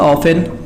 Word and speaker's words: often: जैसे हमने लिख दिया ऑफन, इसी तरीके से हम अगर लिखें तो यहाँ फासन लिख सकते हैं। तो आप देखेंगे OFTEN में यहाँ पर हमने देखा क्या, टी साइलेंट था।